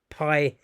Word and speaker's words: pi: p so it's just the lowercase symbol of the letter that makes a p sound a p sound in the greek language so it's pronounced pi in the english language